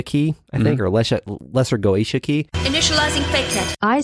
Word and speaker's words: Goetia: Don't say goatsy. I will not. The Goetia is a practice that includes the conjuration of demons.